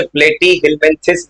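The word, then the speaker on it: Platyhelminthes: नाम रटना है, जैसे प्लेटी हिलमेंथिस बोल सकते हो, सिंपल प्रोनाउंसिएशन याद करना, प्लेटी प्लेट है, उसके बाद हिलमेंथिस लिखा है, अब फिर बोल रहा है एसेल मेंथिस।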